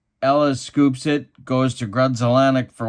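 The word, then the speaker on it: Grudzielanek: would pronounce Grudzelanek's name Grunzelanek. But there's no N. Well, there was an N down here, but there's no N back here. I don't know. I always thought that was strange. Grunzelanek.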